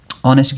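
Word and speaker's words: honest: अ एन द ऑनेस्ट की बात हो रही है।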